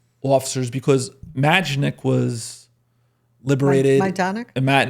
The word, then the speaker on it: Majdanek: Majdanek? I'm saying it wrong. Majdanek.